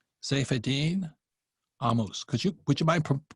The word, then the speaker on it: Saifedean Ammous: Saifedean Ammous is how it's pronounced in Arabic, but Saifedean Ammous is good enough in English.